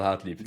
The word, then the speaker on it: Hartlieb: Hartlieb. Am I pronouncing it correctly now? Did I finally get it? You absolutely are, yeah. No, Hartlieb, L- that's the correct let way to pronounce it.